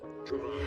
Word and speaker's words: Trevon: I'm not going to waste time because Bridget the Midget is here and Drevin. Is that how you say it? Drevin? Trevon.